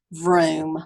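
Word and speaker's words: Vroom: and look at join vom rhymes with broom but starts with a V join vom and send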